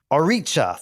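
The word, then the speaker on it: orixá: was a priest, and the priest would summon orixas against people that like had debts. Oricha. Thank you for your better pronunciation there.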